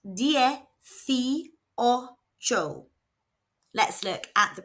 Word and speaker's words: dieciocho: It is pronounced D O. Let's look at the pronunciation. So, both letter I's make an E sound and the C is making a F sound because it's followed by an I.